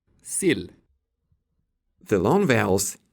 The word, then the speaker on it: sill: For example, the E vowel can be either long, E, or short, I. Sil. Sill.